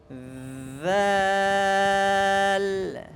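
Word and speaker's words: ذال: সময় কি করতে হবে জিহ্বার আগা দাঁতের আগার সাথে লাগিয়ে এরপরে কি নরম করে উচ্চারণ করতে হবে জাল জাল জাল বলে এভাবে শক্ত উচ্চারণ করলে কি হবে না শুদ্ধ হবে না তাহলে কোরআন শরীফ আমার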